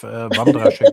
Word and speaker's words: Wandraschek: name, because I don't know how my pronunciation is going with the Wandraschek Winery. Maybe. It's perfect. Even as a German native, Wandraschek Winery is how I would pronounce it.